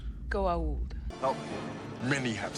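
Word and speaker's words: Goa'uld: so far on february and to determine the goo old threat excuse me senator i'm sorry there should be an apostrophe after the a before the u it's pronounced go old oh many have said that but you are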